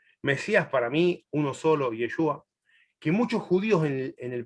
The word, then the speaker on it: Yeshua: nombre, a ver, la mejor pronunciación es Yeshua o Yoshua, en la forma larga, y la forma Yeshua corta en aramea, y Yoshua en hebrea larga.